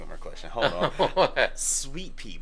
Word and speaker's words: Suite-Pee: more question hold on Sweet Pea but it's spelled s-u-i-t-e ah like like us like a girl that comes to your sweet wait and is it p-e-e or p this is not p-e-a oh wow it's it's